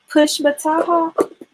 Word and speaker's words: Pushmataha: How did you pronounce it? Push, Pushmata? Pushmataha. Oh wow, I don't know how to spell it. Let me look. Pushmata. I'm gonna have to look that up. Let me see. Can I find it really quickly? Pushmata. Alabama? Mm-hmm. I have never heard of that. Is it Native American? Yes. That sounds like it. Okay, so it's spelled, I guess, pretty much like it sounds.